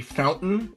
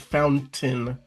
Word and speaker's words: fountain: For example, you might hear someone say fountain instead of fountain with that really harsh sound.